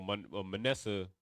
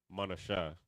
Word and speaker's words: Manasseh: So Manasseh Manashah just sounds exactly how it sounds in English, but you just replace the sounds with Hebrew.